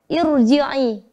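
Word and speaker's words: ارجعي: Coba kita praktekkan ro sukun yang didahului hamzah wasal pada kata irji'i. Irji'i. Pada surah Al-Fajr ini. Irji'i, maka harus dibaca tebal ro-nya walaupun didahului dengan hamzah, ya, yang berharokat kasroh itu, tapi sebenarnya itu hamzah wasal, ya.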